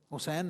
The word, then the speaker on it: حسین: گا۔ اور دوسرا شہزادہ حسین ہے، وہی ترتیب یہاں ہے، وہی تمہید یہاں ہے، ہاں پر پیش ہے، سین پر زبر ہے، یا ساکن نون ساکن ہے۔ آپ اس تلفظ کو